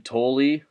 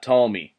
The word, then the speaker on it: Thole: So then he faces Jim Thole, not Tomey. Thole, I believe his name is pronounced, but Joe Nathan faces him.